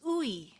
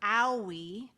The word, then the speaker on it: Oei: And if you're wondering how to pronounce my last name, it's ooey, like chewy, gooey, fooy, pooy. Occasionally mispronounced as Dr. Owi, which I like to